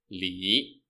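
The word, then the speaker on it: 李: languages for example my surname in Chinese is pronounced as Li and spelled in English as l ee this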